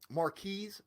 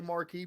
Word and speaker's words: Marquise: apologies i was um a ravens fan came to me on one of my streams once and told me hey you have to pronounce that s so my apology sometimes i will still say marquee because that just comes off the lips easier and it's kind of